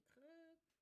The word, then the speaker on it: Krk: Naturellement, c'est pas le parc de Creux. Excusez, ça s'écrit KRK, donc si vous pensez que je vais mal prononcer.